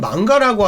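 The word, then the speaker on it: 漫画: 한국에서는 망가라고 하면 성인용 만화라는 이미지가 강하다고 하더라고요. 만화라는 한자를 일본 발음으로 망가라고 발음하는 것 뿐이기 때문에 여러분은 오해 없으셨으면 좋겠습니다.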